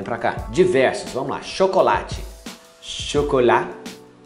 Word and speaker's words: chocolat: Chocolate. Chocolat. Chocolat, você não pronuncia a letra T.